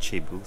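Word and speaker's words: thiebou: all the vowels in it um but it's pronounced chebu so if you just say chebu and that's like the star of the that's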